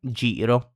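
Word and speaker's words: giro: are gelato ice cream gelato j gelato and jirro this means circle or circle around depending on the situation.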